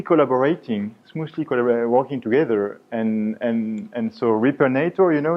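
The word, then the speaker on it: Repairnator: It's hard to read and to pronounce, I know. It's on purpose. It's Repernator. Repernator. It's a direct reference to a Hollywood movie, Terminator.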